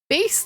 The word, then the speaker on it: Bass: Bass like the fish. Yes, that's how you pronounce bass.